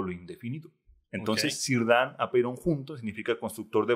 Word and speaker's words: Círdan: Y Círdan, que se pronuncia Círdan, es prácticamente un personaje de Tolkien, que es un carpintero de barcos.